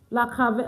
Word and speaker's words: cravate: Yeah, la cravette, good. That's the type. Cra, it's cra. Okay, it's not, no, it's cra, like this. La cravette.